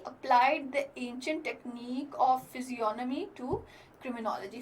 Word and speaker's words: physiognomy: He applied the ancient technique of physiognomy to criminology. Physiognomy, the G is silent here.